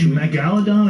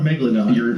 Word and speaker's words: megalodon: Is it megalodon or megalodon? How do you say it? It depends. Your emphasis can be on a different syllable.